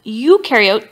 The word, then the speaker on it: eukaryote: So one way I like to tell students to remember this, eukaryote, the U rhymes with do, they do have membrane-bound organelles, and prokaryote, the pro rhymes with no, and they do not have membrane-bound organelles.